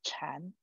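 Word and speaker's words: 禅: the objective of chan chan is a chinese pronunciation of meditation so in chinese we say meditation school okay our pronunciation is chan but maybe you are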